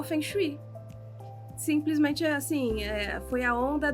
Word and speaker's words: Feng Shui: E aí fiz um cursinho básico, né, do Feng Shui, que também a pronúncia correta é Feng Shui.